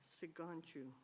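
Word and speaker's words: Sicangu: gonna have to get you to help me pronounce this, Sigangu? Siganchu, okay.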